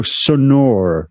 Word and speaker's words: Sonor: lot of people say yeah it sounds like s o n a r which is exactly different word um yeah I think